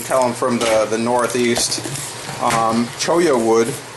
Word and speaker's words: Cholla: I was corrected on my pronunciation. I called it Cholla wood. You can tell I'm from the northeast. Cholla wood It's the wood of a cactus, the